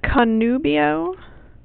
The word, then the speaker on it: conubio: proprium Quay di Cabo at kanubio the book tells you it's it's ablative this is a long o it's an ablative place